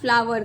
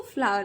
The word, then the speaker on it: flower: Something, ए, ये spelling है फ्लावर का, फ्लावर, इसको फ्लो नहीं पढ़ेंगे, इसको फ्लावर पढ़ेंगे.